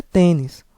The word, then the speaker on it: tênis: é tenis ou tênis O correto é tênis Ou seja a sílaba mais forte é a penúltima como ela é terminado